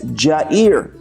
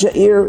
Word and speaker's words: Yair: put a j so it would be pronounced as jair it's not your ear it's not Arabic it's Hebrew and the Hebrew is with